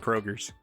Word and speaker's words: Kroger's: the Meyer and Kroger do not have S's on them, but you have to say Mey Myers and Kroger's. That's just it's part of the it's part of the the lingo. You got to say it like that.